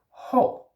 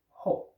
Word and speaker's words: hård: So for example, in the word ho, you have an RD at the end, and the D is silent, ho, meaning hard.